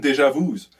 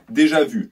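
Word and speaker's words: déjà vu: is just having constant deja vus because i already know that i just pronounced deja vu's deja vu sorry my i'm going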